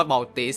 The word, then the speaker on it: Maltese: มาก ๆ นะ ครับ ก็ รู้ สึก มัลตา ตอน แล้ว เอา ว่า มัลติส นะ ครับ เพราะ ว่า มัน สะกด อย่าง นั้น น่ะ m a l t